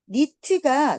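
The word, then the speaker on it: knit: in a tightly group 니트가 니트티 알지 얘들아 그 엄마가 이렇게 따 짜줬지 그래서 니트에 K는 발음이 안 되고 자 니트는 촘촘히 짜다의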